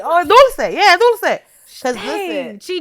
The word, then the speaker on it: Dulcé: It's pronounced Dulce. Yeah, like dulce de leche ice cream is what I was thinking.